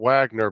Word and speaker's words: Wagner: It's spelled Wagner, but technically you call it Wagner. Yeah, the W is a V.